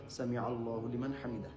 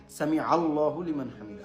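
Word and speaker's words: سمع الله لمن حمده: হামিদা আস্তে আস্তে বললেও সামি আল্লাহু লিমান হামিদা আস্তে আস্তে আওয়াজ করে পড়বেন সামি আল্লাহু লিমান হামিদা আইনটা এটা জেনে রাখবেন আইন উচ্চারণ করছেন আপনি আইন একটু শক্ত করে সামি আল্লাহু লিমান হামিদা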